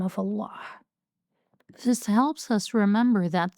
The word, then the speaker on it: Allah: the name of Allah, don't forget the sound of the ha at the end, because the name of Allah is Allah, not Allah, like some people say.